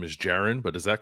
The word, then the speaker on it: Jaron: assumed that you say his first name is Jaron, but is that correct or is that wrong?